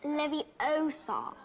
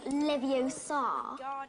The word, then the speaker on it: Leviosa: to take someone's eye besides you're saying it wrong it's Leviosa not Livio sod you do it then